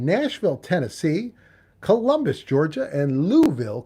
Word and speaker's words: Louisville: Tennessee Columbus Georgia and louville Kentucky that's how they say it in Louisville they don't say Louisville com we did this